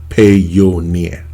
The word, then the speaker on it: Payoneer: from amazon okay uh i think payoneer or pioneer uh i don't know how most people pronounce it i i kind of pronounce it pay your near okay uh you can